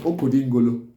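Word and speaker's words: Okodengolo: the Igbo call it, some Igbo call it Okodingolo.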